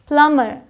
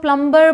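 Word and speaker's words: plumber: है ये डेट है प्लमर आधे से ज्यादा इंडिया कह सकते हैं 99 पर लोग प्लंबर बोलते हैं बट यह क्या है प्लर प्लमर यहां आते हैं साइलेंट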